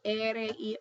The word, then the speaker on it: ere: Then ere-- e,r,e is the r, so I'm going to put an r here.